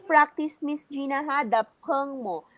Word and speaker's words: 朋: The peng mo. You always pronounce it as pang. Peng, it's letter E.